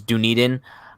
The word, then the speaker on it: Dunedin: of where they're playing apparently it's dunedin i'm claiming it's dundin like i i'm sorry if i'm offending anybody who's from dunedin but like it's just not as fun to say